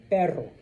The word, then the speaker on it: perro: Okay, so pero or perro. Okay, there's another one. Caro means expensive. Carro means car. Okay, so maybe you just bought yourself un carro caro. Expensive car. All right, so you kind of have to, like I said, try to make a little bit of a difference, okay?